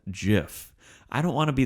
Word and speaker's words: gif: than say well actual it's jif no did you mean gif no actually it's called jiff i don't want to